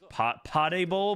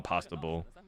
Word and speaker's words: PasdeBol: uh his the name the way you pronounce his name is po pable but people call him pasta B I had some pasta